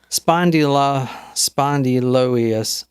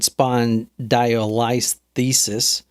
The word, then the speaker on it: spondylolisthesis: But Luigi reported that he suffered from spondylolisthesis. Damn, that actually sounds right. Spondylolisthesis. You may have pronounced it right. Spondylolisthesis. Well, you had it maybe once. Spondyloius.